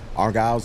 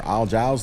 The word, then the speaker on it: Argyle: Argyle's limo or Al Jiles limo. I think it's Argyle. Argyle. Okay. Kind of like the socks that you wearing for golf.